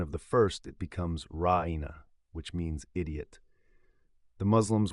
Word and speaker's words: ra'ina: unzurna, they would say ra'ina. Ra'ina, when pronounced properly, has much the same meaning as unzurna, but with the protraction of the second vowel, it becomes ra'ina, meaning our shepherd, and with the protraction